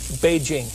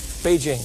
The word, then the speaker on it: Beijing: That's the way it's pronounced now. Beijing. Beijing.